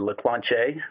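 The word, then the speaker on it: Leclanché: urban I am the executive ice president for Lacroix che which is the correct pronunciation for our company located in in Dallas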